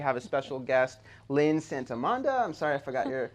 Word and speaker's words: Santomenna: a special guest, Lynn Santomenna. I'm sorry I forgot your... It's okay. Correct me. How do you, pronounce it? Santomenna. Got it. Santomenna. It's Italian. Perfect.